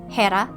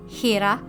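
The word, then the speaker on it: Ήρα: And the same goes for Hera, which I would pronounce as Hera or Hera in Greek, and Zeus, which is Zeus as well.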